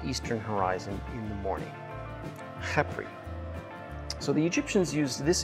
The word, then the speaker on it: Khepri: That's spelled K-H-E-P-R-I, Khepri.